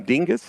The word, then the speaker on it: Dingus: And that's going to be caught by Jackson Dingus. Is that how to say his name? That Dingus? Is correct.